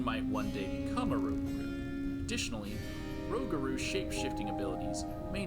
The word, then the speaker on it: rougarou: Rougarou, not Rougarou. Because it's spelled Rouge.